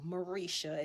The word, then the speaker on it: Marisha: People can't pronounce it at all most times, but it is Marisha is how she chose to raise me to pronounce it.